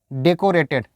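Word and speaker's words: decorated: सजाया हुआ, डेकोरेटेड। Guys इसको आप सही प्रोनाउंस कीजिएगा, इसको डेको नहीं बोलते हैं, को नहीं बोलते हैं, डेक बोलते हैं, डेकोरेटेड, डेकोरेटेड, को नहीं, डेकोरेटेड नहीं बोलना है।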